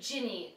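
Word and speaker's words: Ginny: rubas next minurva mogal jinny Weasley I've heard people pronounce this Jenny jinny G y gy but it's actually jinny like Jenny but with an i instead of an e then Remis Lupin then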